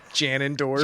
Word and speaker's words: Ganondorf: They started making fun of her for Ganondorf. Ganondorf and Gerudo. His name's Ganondorf? I pronounce it Janendorf.